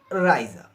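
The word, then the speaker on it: Reise: not I not i e EI I is pronounced in German as I or a okay the four example of this rule is Raa Raa and the spelling of this word re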